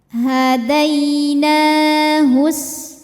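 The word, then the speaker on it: هَدَيْنَاهُ: Dai ada harfulin atau huruf lin. Sebab ada ya sukun sebelumnya berharokat fathah. Cara membacanya cukup kita lembutkan saja. Hadainahus.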